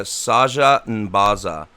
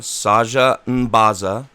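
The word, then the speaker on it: Saja N'baza: So, Azaka and Eku are both able to share with you that the spirit naga Saja Nbaza is a wise guardian of Ubtao. Ubtao is spelled Ubtao.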